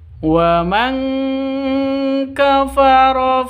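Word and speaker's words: وَمَن كَفَرَ: Wa man kafara, nun mati bertemu dengan kaf. Cara bacanya samar didengungkan, siap-siap ke huruf kafnya. nun matinya ditambah dengan ng. Jadi bacanya mang seperti itu ya.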